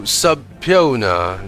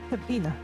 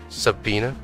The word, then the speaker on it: subpoena: Prosecutor Auchi, have you managed to subpion the witness? Is that how you pronounce it? Subena. Subpoena. Is that it?